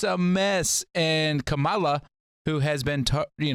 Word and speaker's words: Kamala: what are we doing is it really kamala kamala i thought it was kamala i'm sorry i said camelot as a joke it's kamala i can't you can't say